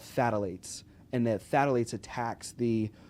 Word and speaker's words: phthalate: everything, there's what's called phthalates. And that phthalates attacks the reproductive system. And you can look this up. It's a pH. It's not TH. It's phthalate. So the pH, the P is silent.